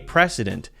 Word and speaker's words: precedent: That pronunciation sounds very much like president. It's a little different. The difference is S and that's it. President. Precedent.